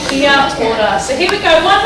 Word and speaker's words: kia ora: And learning the vowels in Māori, a, e, or u. Now that you know them, you shouldn't have a problem pronouncing kia ora.